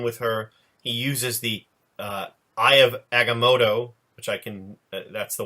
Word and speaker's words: Eye of Agamotto: He uses the Eye of Agamotto, which I can. That's the one. That's the one I'll defer to you for pronunciation, Brian.